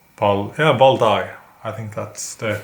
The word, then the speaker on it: Valdai: So that is why I decided to order the A&R Zlatoust Valdai. I think that is how it's pronounced. Valdai.